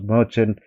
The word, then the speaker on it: merchant: of all these words: merchant, machine, and mechanic, because these are all the familiar words. You know, the here CH is giving three variations: k, ch, and sha.